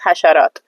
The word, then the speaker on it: hasharat: All in one general word for insects in Dari is hasharat. Hasharat, all right?